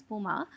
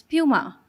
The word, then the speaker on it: Puma: either right because um Puma started off in Germany so the German pronunciation is Puma but when we reached the U.S markets we realized well they pronounce it as Puma so you can call